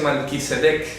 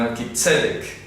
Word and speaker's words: Melquisedec: Melquisedec, no se dice Melquisedec, sino Melquisedec, tilde en la primera E, para que lo pronuncien correctamente.